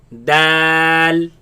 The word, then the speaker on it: د: Now the next letter has alif in the middle, and with the L sound, lam sound. Let's pronounce it. Dal, دال dal, دال dal.